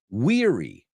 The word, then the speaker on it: weary: The next word is weary. Weary. Weary. So what's a word that rhymes with that? Teary. Con muchas lágrimas, lagrimosas. Your eyes are teary because you're weary, because you're tired. So let me say both now. Wary and weary.